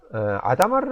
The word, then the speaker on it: Hadamard: 게이트가 있습니다 여기서 잠깐 이거를 아다마르 아고 발음하는 분들도 계신데요 사실은 이게 프랑스의 수학자 작 살로몽 아다마에서 따 아다마르에서 다온 곳이기 때문에 아다마르 아고 읽을 수도 있습니다 그렇지만 제가 본 양자 컴퓨팅에 관련된 해외 유튜브들이 출연자 분들은 모두 하다 마드라 발음하죠 저는 하다 마드라 발하겠죠 하다마드 게이트는 0이 100%